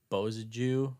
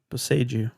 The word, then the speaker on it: Boseiju: I did Bozaju, who endures. Bozaju? Bozaju? How very How do you say that? Boseiju. Boseiju, who endures?